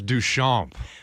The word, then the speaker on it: Duchamp: It's Duchamp.